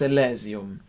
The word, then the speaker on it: Elysium: There are lots of different ways to pronounce this word. It's a strange sort of Latin word that's ended up in German being sung by English people, but let's just go for Elysium, just for simplicity's sake.